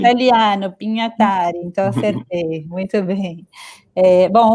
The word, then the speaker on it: Pinhatari: Pinhatari é assim mesmo que pronuncia seu nome, Carlos? É italiano, então sim. Italiano, Pinhatari, então acertei, muito bem.